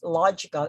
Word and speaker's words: logical: the word is logical and it ends with the suffix ecau and then the the syllable preceded by eagle is log so therefore the stress falls on this syllable that's why we say logical logical logical logical what